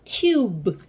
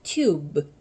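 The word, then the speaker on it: tube: 원래는 엇소리지만 마법의이가 오는 이런 형태의 글자에서는 얘를 유로 발음한다. 그래서 앞에 트가 오면 어떻게 읽을까요? 튜겠죠. 튜트유 합하면 튜가 왔습니다. 그래서 튜브 하고 발음하겠죠. 튜브.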